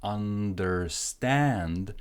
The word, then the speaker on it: understand: There is no E here, so it's understand. Stress goes here.